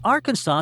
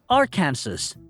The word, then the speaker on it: Arkansas: This is something a lot of foreigners get wrong, because Arkansas seems like a phonetic twin of Kansas, but most tourists pronounce it as Arkansas.